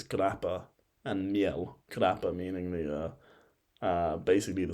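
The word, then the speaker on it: grappamiel: Now, if you were to move more eastward, you would find grappa male. That was butchered, but essentially it's grappa and miel.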